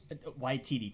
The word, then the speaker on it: Waititi: And it just, it's I think because of, how do you pronounce his last name? Waititi? Waititi, Taika Waititi.